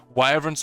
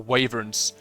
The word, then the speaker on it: wyvern: dragon still cooler and i pronounce wyvern like like the first one so with an like why like the word wire and then burn if you could tame